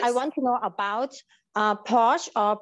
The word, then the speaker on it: Porsche: I want to know about Porsche or Porsche. Okay, so in English we say Porsche, but Italian you say Porsche. So just say Porsche if we're speaking English.